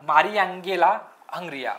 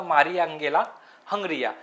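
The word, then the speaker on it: Mariangela Hungria: नाहीये कोणाला मिळाला डॉक्टर मारिंगल हंग्रिया याच प्रोनन्सिएशन थोड कठीण आहे डॉक्टर मारियांगेला हंग्रिया डॉक्टर मारियांगेला हंग्रिया या व्यक्तीला जागतिक अन्न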